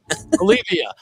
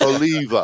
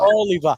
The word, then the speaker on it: Oliva: Olivia, and that's the new. That's a new brand. That's Oliva. Oliva. Yeah, someday you'll get a pronunciation. Olivia.